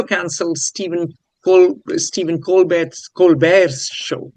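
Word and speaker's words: Colbert: Um CBS also cancelled Steven Col Steven Colbe Colbear's show. He doesn't like the T pronounced.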